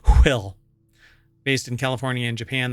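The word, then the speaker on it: WHILL: l l so it's you have to pronounce it will based in California and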